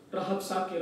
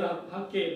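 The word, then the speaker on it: Rabsake: Dan Raja Asur mengutus Rahab Sakir. Rahab Sakir adalah seorang juru minum. Rapsake eh Rapsake Raphake ya bacanya Raphake dari Lahis ke Yerusalem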